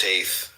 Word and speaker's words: Teth: Teth, pronounced Taith, transcribed as T, the number 9, meaning serpent, the intelligence of the secret of all spiritual activities.